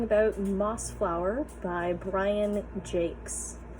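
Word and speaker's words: Jacques: moss Flower by Brian Jake yes that is pronounced Jake I don't make the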